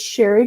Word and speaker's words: Cheri: going to read it to you I'm gonna pronounce it and read it it's sherry Gartner dotnet and that's CH e RI Ga